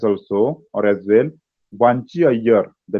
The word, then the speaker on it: Iyer: Here pronunciation is Iyer. Hmm? In Marathi also pronunciation is Iyer, Vanchi. In English also Iyer, but while writing I we have to write.